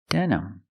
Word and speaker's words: denim: for the second syllable it's not stressed use the sound uh uhuh relax sound uhuh denm denim denim you can say this